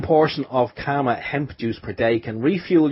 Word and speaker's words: Kama Hemp: But thanks for the introduction, and I do have to correct you, and it's always funny when people say Karma Hemp, because it's actually Karma, K-A-M-A, which is actually an ancient word for love, believe it or not.